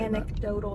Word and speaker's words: anecdotal: something that anidotal or how do you say anecdotal? There's a C in there.